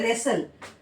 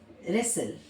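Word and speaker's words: wrestle: एक होता है रेसल है ना रेसल एस टी एल ई।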